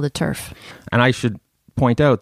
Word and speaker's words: TERF: you heard the term turf I have heard the term it's trans exclusionary radical feminist and for those listeners who haven't heard the term turf it rhymes with nerf it may not have